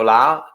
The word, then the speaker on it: Lau: I'm Lau. My last name is pronounced just like how I talk, really loud.